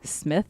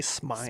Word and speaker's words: Smythe: The next story I'm going to talk about is British explorer Frank Smith. Is that how you would pronounce it? I would say Smythe.